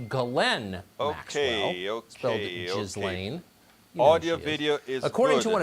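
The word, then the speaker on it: Ghislaine: crimes right now so her name apparently is pronounced glenn okay okay according to one of epstein's victims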